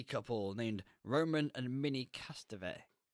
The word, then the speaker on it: Castevet: named Roman and Minnie Castevet. Castevet? I say Castavet. Castevet. I'm going to say I think that's how they Castevet then. pronounce it in the film.